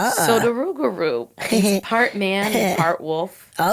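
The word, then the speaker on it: rougarou: Oh, have you ever heard of the rugaroo? What? The rugaroo. Uh-uh. How do you spell that? R O U G A R O U. Whoa. Uhuh. So, the rugaroo, part man, part wolf.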